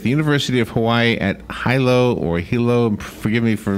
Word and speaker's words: Hilo: It is Hilo, even though it looks kind of like Hilo, but it's pronounced Hilo.